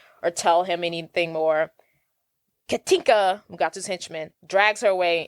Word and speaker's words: Katinka: Katinka.